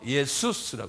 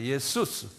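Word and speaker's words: Ἰησοῦς: 그래서 이게 헬라말로 예수스라고 그래요. 한번 발음해 보세요. 예수스. 예수가 아니라 예수스.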